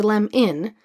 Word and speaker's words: lemon: So, for example, in the word lemon, there's a schwa. We say lem-in, but we spell it lem-on.